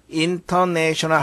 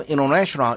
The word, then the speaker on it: international: 근데 상당히 많은 경우에 N 다음에 T는 잘 발음되지 않습니다. international 하지 않고 international 이렇게 우리가 발음하죠. 왜 그래요? international, international, 여기에 T가 여기 있죠? international, 이렇게 발음되는 경우가 많죠.